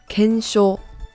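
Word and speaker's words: 検証: How to pronounce this is kensho.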